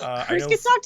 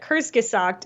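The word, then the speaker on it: Kurzgesagt: Oh well, I'm not 100% sure, but Kurskasakt is how an American, pronounce it.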